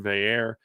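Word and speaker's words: Veilleux: quarterback transfer and Christian Veer I think is how they I saw them say it's Christian Veer which doesn't at all look like how it's spelled he's a Penn State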